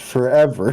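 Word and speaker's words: ForeVR: I did that as well until I think I watched Myles stream Forever Bowling, and I was like, oh, it's pronounced forever.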